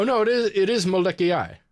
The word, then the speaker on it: Molokai: pretty cool oh no it is it is molecule like that's how you pronounce it oh okay yeah cool yeah yeah